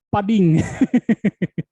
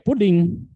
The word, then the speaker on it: pudding: Nah, saya menjawabnya itu pudding itu disebutnya pading. Dan kata .ge ini saya sebut dengan .ge. Nah, itu salah kata dosen saya. Pudding itu ya pudding, di pronounce itu pudding. Dan kata yang ditulis .ge ini dibacanya dodge.